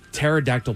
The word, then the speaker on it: pterodactyl: The P is silent, as it should be.